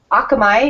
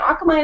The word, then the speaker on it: Akamai: with Nelson Rodrigues from Akamai is that how you would pronounce that hey say yeah I'll come I that's right yeah I figured it was more like the Japanese pronunciation by the spelling xmi the Hawaiian word